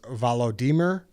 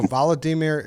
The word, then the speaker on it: Volodymyr: right now and um his name is valodimer uh they they pronounced vladimir a little different and ukraine he just told us which was uh you know news to us you're right yeah so he said the same name as our enemy but pronounced a little differently yeah so voladimir you're